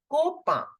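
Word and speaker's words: copain: or friend Copa copen I repeat it kopa the N is in the end so I'll keep it partially silent kopa but here the last alphabet is e so I will make the complete sound of n for girlfriend it is copen Copa Goa copen all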